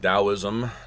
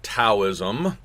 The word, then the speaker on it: Taoism: You see a quick pronunciation guide here, so it's pronounced Taoism not Taoism and the reason for this is there's two